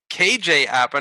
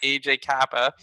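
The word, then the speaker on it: KJ Apa: It's KJ Appa, not AJ Kappa.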